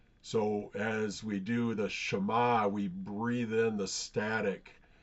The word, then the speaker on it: Shema: it uses the word Shema. If you think about it, there's two syllables there, sh and ma.